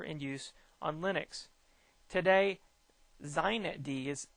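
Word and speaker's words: xinetd: use on linux today zeinet d is that's how they pronounce this with an x x i net d or z knit d is pronounced predominantly used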